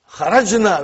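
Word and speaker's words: خرج: Kharajna. Where is the verb? Say it properly. Kharaj. With sukun. You won't say with. You will say kharaj.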